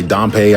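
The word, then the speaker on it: Dampé: uh pronounce his name some people say donpey i say i put a little more emphasis on the a you just completely silence the e and say damp damp you know what i'm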